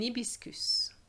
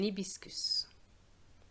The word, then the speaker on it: hibiscus: The answer is an hibiscus. An hibiscus. So you do pronounce the S.